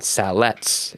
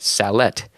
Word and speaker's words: sallet: this book is actually called a discourse on salet it's spelled s a l l e t and that proves to me that salet is just an old word for salad and